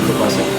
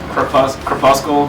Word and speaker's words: Crepuscle: Crepuscle, just because they don't know it's a soft C. Crepuscle.